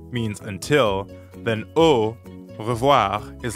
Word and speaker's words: au revoir: english letter o but keep them rounded the whole time don't relax at the end how we normally do in english try to hear the difference between an english o o versus the french is spelt a u and here it means until